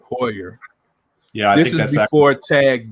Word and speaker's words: Heuer: How do you say it? Hoyer, ain't it? Hoyer.